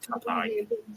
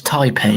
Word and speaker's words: Taipei: Just put check against tap. Tap is taipe not tap.